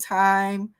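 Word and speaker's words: thyme: doing the veggie nacho I mentioned time uh and that's spelled t h y m e it's time seasoning a lot of times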